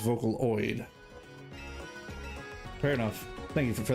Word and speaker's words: Vocaloid: So it is pronounced Vocaloid.